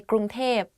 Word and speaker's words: กรุงเทพ: กรุงเทพมหานคร Bangkok กรุงเทพมหานคร If you go to Thailand and you hear people talk about Bangkok, they will say กรุงเทพ because conversation wise it's easier to pronounce like that กรุงเทพ but a longer name